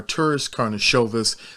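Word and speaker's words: Karnišovas: let's just help wojc out here it's our tourist karnashovis so that you know everybody who wants to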